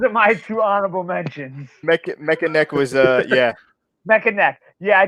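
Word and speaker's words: Mekaneck: Manny Neck. Well, how you pronounce it? Mechaneck. neck. Mechaneck. Yeah.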